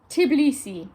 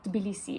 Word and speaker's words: Tbilisi: in English again because we're not used to having T's followed by B's it's something we never come across we wouldn't say bilisi we would often say in England tibilisi so a lot of English speakers would tend to say tibilisi rather than Tbilisi it's much more acceptable for our ears so what about uh